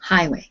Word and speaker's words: highway: names here uh olga highway yes how many syllables and the stresses on which one the stress is on the first yes on the first syllable highway good okay um osama the